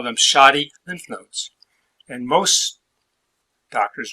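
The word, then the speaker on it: shotty: of that word and they spell it wrong because shadi is SH OTT why not D dy and it comes from buckshot they feel like buckshot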